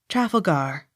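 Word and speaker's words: Trafalgar: c h e tolmash t r a f a l g a r travelgar accent on last syllable as regards the peer of that name not otherwise t r e d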